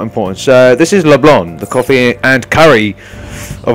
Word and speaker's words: LeBlanc: Well, LeBlanc, sorry, the C is silent.